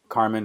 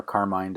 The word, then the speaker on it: Carmine: And of course, Carmen or Carmine, depending on how you want to pronounce it.